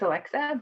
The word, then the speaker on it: Alexa: Please, I believe it's Alexa, but correct me if I'm wrong. You are correct.